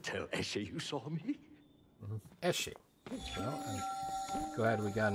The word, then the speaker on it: Eshe: Eshe. Well, I'm glad we got an official confirmation on the pronunciation of her name.